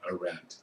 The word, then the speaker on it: Arendt: The other assignment that you have is on Hannah Arendt, and that's the way you pronounce her name, Hannah Arendt.